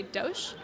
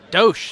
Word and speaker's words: Dosh: it right let's see Dosh Dosh that's right I got it not do it's Dosh um and we have